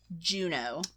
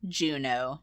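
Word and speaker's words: Juneau: be the oh yeah Anchorage okay I put Juno I didn't even think of that one and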